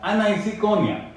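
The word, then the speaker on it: aniseikonia: इट is pronounced as एनिसोकॉर्निया।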